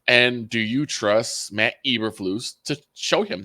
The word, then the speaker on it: Eberflus: Eberflus, Thank you.